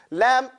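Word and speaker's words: لام: Lam is pronounced from using the edge of the tongue.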